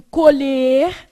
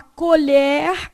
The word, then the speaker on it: colher: A grafia é a mesma, mas a pronúncia é o quê? Diferente. Um tem o E fechado, né, que é o colher, E o outro tem o E o quê? Aberto, colher.